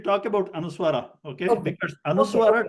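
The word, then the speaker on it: anusvāra: Because anuswara doesn't have its own pronunciation. Okay. Okay. The pronunciation of anuswara depends on what letter comes next. Okay. If nothing comes, then it is pronounced as ma.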